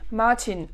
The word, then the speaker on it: Martin: on à martin d'accord martin en allemand ça se dit martin et c'est un prénom garçon d'accord martin en allemand le garçon et s'appelle maintiennent et alors ça fait un peu martin mais par contre là